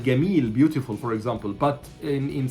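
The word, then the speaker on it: جميل: say Jamil instead of Gamil, Jamil. The same way that Arabs are pronouncing it in different Arab countries in the Gulf, for example. Jamil, okay? We don't say Jamil, we say Gamil, okay?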